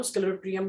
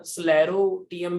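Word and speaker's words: sclerotium: इस सिस्ट को ही हम स्क्लेरोटियम भी बोलते हैं, ठीक है, या स्लेरोटियम भी बोल सकते हो, सी साइलेंट है।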